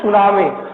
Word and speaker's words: tsunami: Then the sir form सुनामी। हाँ सर सुनामी बोलिए। में टी का साइलेंट रहता है सर।